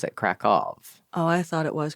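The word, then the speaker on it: Kraków: okay yeah it's spelled like Kow but they pronounce it kov Oh I thought it was krackow krackov I yes this is good to know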